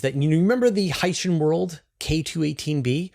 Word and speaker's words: Hycean: And this week's story is pretty cool, which is that you you remember the Hycean world K2-18b? Hycean. Ocean. Hycean.